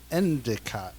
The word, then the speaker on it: Endicott: e n d i o t t end endicot sure I agree it is fully pronounced Bob Bob they're they're from Bob New York now on you call me Endicott why just me because all the rest of